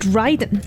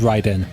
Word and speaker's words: Raiden: In Japanese, as far as I know, we've watched a lot of anime, so it should be pronounced Raiden. It should be pronounced Raiden.